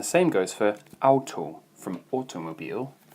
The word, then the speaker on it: Automobil: And the same goes for Auto, from automobile. Obviously just pronounce that differently, Automobil.